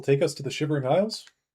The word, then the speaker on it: Isles: The S in isles is silent.